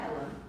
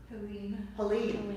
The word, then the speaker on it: Helene: It's not Helen. Helene. Yeah, that pronunciation was kind of off me.